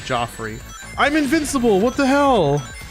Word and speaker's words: Joffrey: and people don't like Joffrey I'm Invincible what the hell Joffrey yeah Joffrey GI Offrey with two FS Jeffrey no I believe his name is actually Joffrey Jeffrey is the Butler